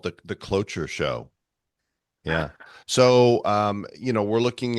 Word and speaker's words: cloture: But so Senate voted yesterday 68-30 to invoke cloture. What Hmm. CLOTUTURE? I don't know what that word is, how to pronounce it.